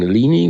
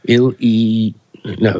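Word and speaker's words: Illini: um campus so I called them the fighting Alini which is absolutely not right it is ill e no it's fighting I lie in I I li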